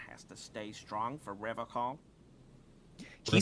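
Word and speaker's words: Revachol: someone has to stay strong for Revacol. He says Revacol, Yeah. like Nippon instead of Nihon. He's got some extra patriotism on that pronunciation. He pronounces Revacon with a hard K, unlike other people.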